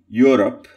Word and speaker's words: Europe: The word E-U-R-O-P-E, Europe, is to be pronounced as Europe. When you begin that word, preparing to say E, and then you say Europe.